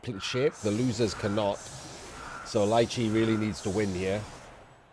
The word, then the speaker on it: Liche: I've said his name wrong again, it's Liche.